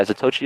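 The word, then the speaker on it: Zatoichi: Yeah, Zatochi is how you would say his name.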